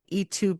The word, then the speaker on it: Ytu: Uh, there's also a water beetle named The first name is spelled YTU, and it's named E2 Brutus.